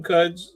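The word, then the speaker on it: Quds: And I'm really interested, you know, I didn't mention Cuds, you know, it's it's Q, right? But yeah, but it's pronounced Cuds.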